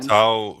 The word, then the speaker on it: Tau: Tau rhymes with cow, so I will stick to True.